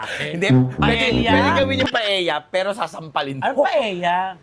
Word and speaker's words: paella: Pwedeng gawin yung Paeya pero sasampalin ko. Anong Paya? Paeya ang pag-pronounce sa Paella gan ba? Oo. Paeya ang galing mo doon. Ang yung paella silent L.